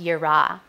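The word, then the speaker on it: יראה: This is pronounced yirah.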